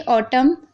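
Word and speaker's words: autumn: अब देखिए ऑटम, column, him, तो यहाँ पर देखिए एम एन से पहले एम है तो यहाँ पर एन साइलेंट है, यानी ना हम नहीं पढ़ रहे।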